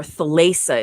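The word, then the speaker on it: Thalassa: an occupation like sargon falasa or thalesa is how they pronounce it in english and henoch in return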